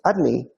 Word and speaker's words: Adonai: And the name Adonai, pronounced Adni, is Malchut, kingdom.